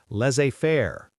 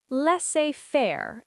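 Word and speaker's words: laissez-faire: Also, less afair. Leafair. Economics term. Lots of silent letters there.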